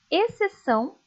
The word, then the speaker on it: exceção: México deixar muito bem o x também aparece em algumas palavras só para marcar posição sem indicar som algum Leiam comigo exceto exceção excelente perceberam que essas palavras o c é pronunciado o x acaba ficando sem ser pronunciado como tem o C ali apenas aparece o som dele mesmo OK agora vamos estudar a